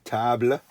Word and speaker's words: table: a table you know tables the same word in english as it is in french but in french you pronounce it tabla bit of useful useless